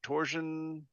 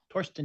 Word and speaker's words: Torsten: Jones, Kenny Nurture Things, Tricob 1974, Retro NG, Marco, Torsion Dittel. Is that how you pronounce that? What's that? Torsten. Torsten. Torsten. Okay. Torsten.